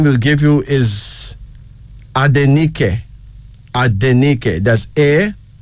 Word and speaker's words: Adenike: always love her so the name is adeniki a d e n i k e adenike the second African name is now akwe